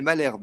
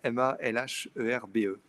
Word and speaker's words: Malherbe: Alors c'est Anaëlle Malherbe, ça s'écrit M-A-L-H-E-R-B-E.